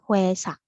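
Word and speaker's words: 회사: ada yang tahu Eh kantor itu artinya adalah wesya dibacanya wesya dia gitu nah terus Hai misalkan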